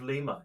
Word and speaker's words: Lima: Named after the city of Lima in Peru, the capital of Peru, and it turns out that the native Spanish speakers pronounce it Lima, and so it actually